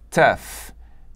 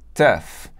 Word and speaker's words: tough: A primeira palavra é tough, tough. Eu sei que não tem nada a ver a pronúncia com a escrita, nada a ver.